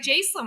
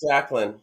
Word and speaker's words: Jacqueline: the way it's spelled, it looks like Jacelyn. I can't believe I missed out on that. So yeah, so I apologize for that. But that's awesome about Oh, the Stacy's right. It's Jacqueline. Oh, okay, it is Jacqueline. Okay, Oh, I was we're saying it wrong.